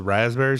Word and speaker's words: raspberry: it's cutting through the raspberry some. So It's raspberry. If you're not going to pronounce the P, don't say the word.